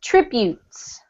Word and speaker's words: tributes: well done that's better this one is tributes to boots good much better okay are